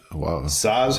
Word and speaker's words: Saaz: Flavor balances sweetness from the triple something malt and bitterness from our Saaz hops.